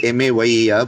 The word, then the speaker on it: Mayer: The Mayer rhythms, we used to call them Mayer because it's written as M-A-Y-E-R but pronounced as Mayer.